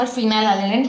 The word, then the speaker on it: phenylalanine: F stands for phenylalanine because when we pronounce phenylalanine, the word PH is pronounced as F.